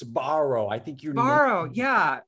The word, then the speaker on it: Sbarro: right it's borrow yeah i think you say it's a soft s and then a hard b so it's sbarro i think you're borrowed